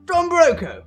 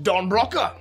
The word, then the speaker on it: Don Broco: I thought it was actually pronounced Don Broca. Oh, yes, you thought it was Spanish, yes, didn't you? And I was like, hold on, there's something Spanish going on.